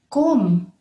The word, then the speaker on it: comb: bird ate all the crumbs from the floor comb comb the bee is silent and comb comb is a strip of